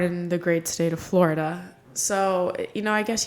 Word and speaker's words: Florida: name all this time Florida so I was told it's two syllables Florida Florida I've always said